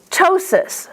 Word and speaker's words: ptosis: Ptosis. See that P is silent because it's at the beginning of the word?